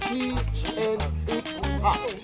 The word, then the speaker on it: Chichen Itzá: That means, but we need to pronounce Chichen Itza. See? Not chicken pizza.